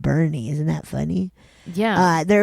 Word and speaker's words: Boerne: I grew up in the then rural Texas farming town called Bernie, but it's spelled Boerne, but pronounced Bernie.